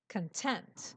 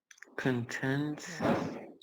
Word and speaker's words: content: typed in here is content the stress is on the uh middle uh syllable content content on T and it's an adjective what does it mean content I don't know certain